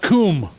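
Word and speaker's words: קום: Hebrew it would be transliterated quu M pronounced Kum means to raise up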